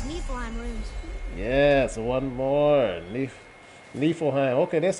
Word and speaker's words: Niflheim: Niflheim.